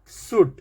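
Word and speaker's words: should: Rule ये है कि यदि एल के बाद डी एफ के एम आ जाए, डी एफ के एम अगर ऐसा आ जाता है तो हम हमेशा एल को साइलेंट रखते हैं। जैसे पहला वर्ड है शुड, तो एल डी शुड, एल डी वुड, WOULD,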